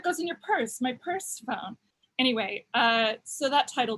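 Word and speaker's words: Pursephone: that um fun fact used to be called persephone but it was spelled like purse like a handbag like p-u-r-s-e and even though it's one word people kept going purse phone this is called purse phone like like you know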